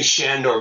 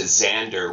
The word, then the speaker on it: Xander: well I I knew shandor before he Chang his name back to Xander which is kind of the Hungarian pronunciation that's correct I because